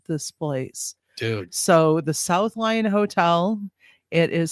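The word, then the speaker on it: South Lyon: Spelled with a Y. It's not It's not Leon. It South Lion.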